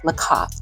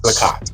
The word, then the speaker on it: Lacat: Lacat, is that his name? How do you pronounce it? His name is Dr. David Lacat. Lacat, okay.